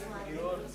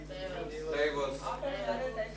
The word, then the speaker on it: diverse: And even today I I get to listen to many conversations where people say pronouns this also has divorce. This is divorce.